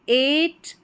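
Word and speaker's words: eight: EIGH number 37 पर है EIGH, इसको ए करके प्रोनाउंस करेंगे। तो यहाँ पर देखें EIGH है, इसको ए करके पढ़ देंगे। तो एट, वेट, नेबर, यहाँ पर है फ्रेट, सभी में EIGH को ए करके पढ़ा गया है।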